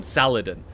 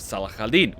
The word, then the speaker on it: Saladin: calls him Salah Hadean she calls him Saladin which is an English pronunciation of Salah Eldeen which is his name but Salah cadena also